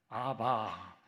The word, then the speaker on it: 아바: 아 이건 아니라 생각이 됩니다 왜냐하면 히브리어로 아람어로는 아바 제가 제 인터넷 쳐봤습니다 히브리어 발음이 어떻게 된다 아빠로 하지 않습니다 헬라어로 베타가